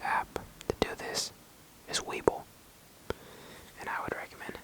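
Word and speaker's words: Webull: live they move around live you understand so Weeble you can trade on this app as well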